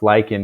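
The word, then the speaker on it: lichens: bushes things like that lyans it's pronounced lyen here in the US they're communities of fungi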